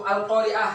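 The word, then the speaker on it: القارعة: Kita lanjut yaitu al-qamariyah, alif lam qamariyah, yaitu al-qari'ah ya. Al-qari'ah. Ya, al-qa. Nah, nih. Ini. Al-qari'atu. Nih, contoh dari alif lam qamariyah. Di mana letak hukum bacaannya? Di sini. Nah, ini alif dan lam, lamnya dibaca al-qa.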